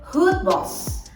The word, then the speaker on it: Goedbos: baik ternyata enggak loh nama good Bos ini diambil dari nama belakang keluarga beliau yang kebetulan Emang ada keturunan Belanda guys jadi bacanya tuh Hood Boss artinya hutan baik jadi gini guys goodb